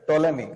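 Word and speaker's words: Ptolemy: टोलेमी सबसे ज्यादा popular question बनता है, टोलेमी का। टोलेमी क्या स्पेलिंग है टोलेमी की, बताओ। पी से शुरू होता है टोलेमी, याद रखो।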